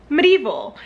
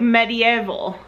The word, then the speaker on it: medieval: uh but i guess in the uk you pronounce it like like an extra syllable like medieval is that right it